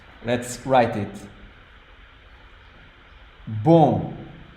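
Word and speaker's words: bom: b let's write it boom it's just one syllable here boom now when the word ends with om M the sound is oh sounds a bit weird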